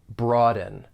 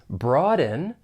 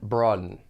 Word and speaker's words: broaden: when pronouncing this verb there are two syllables the stress is on that first syllable broaden now one thing I